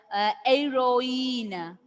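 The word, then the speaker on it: héroïne: The French pronunciation itself. Noel, then heroine.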